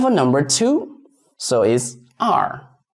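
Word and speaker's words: 二: And for number two so is R R. So for this R you read it as this one. I've already given you the trick. So read it as the letter R. Just R.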